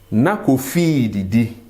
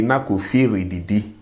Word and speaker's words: na Kofi redidi: But we will say na Kofi didi. Na Kofi didi. That is the proper pronunciation. If you are reading and you come across this and you say na Kofi redidi, everyone will know that, okay, you are just learning the Twi language.